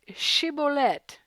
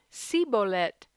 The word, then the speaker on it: shibboleth: It says, "Then they said to him, 'Now say Shibboleth.' And he said, 'Sibolet,' for he couldn't manage to pronounce it right.